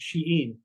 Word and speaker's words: Shein: Another one totally different is a global company called Shien or Shane or however you pronounce it and uh but it's pronounced sheen.